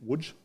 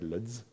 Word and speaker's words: Łódź: I'm assuming in Łódź, is that how I pronounce the name? Whew, got it right. Because, when you read it, you're like, Ludz? No.